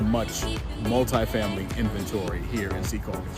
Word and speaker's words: Secaucus: spelling of it flash up locally it is pronounced Secaucus or not Secaucus that is something that I hear of Secaucus